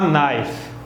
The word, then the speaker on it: knife: A knife, uma faca. Esse car eu não pronuncio, está bem? A knife.